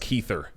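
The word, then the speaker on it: Kiefer: first ad was for kefir Southerland uhhuh yep that was nuts yep he was like what are you new and I was like uhhuh yeah I think it's pronounced keither oh sure I'm just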